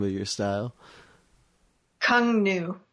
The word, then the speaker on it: Cuong Nhu: If you say it with a Vietnamese accent, it sounds a little better, cooler, but Cuong Nhu is how us Americans say it.